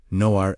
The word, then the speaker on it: Nuhra: Say the word slowly. Noo rah, A H.